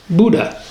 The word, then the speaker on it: BHDDAH: For acronym fans, that's BHDDAH, commonly pronounced Buddha. Unlike many other states, this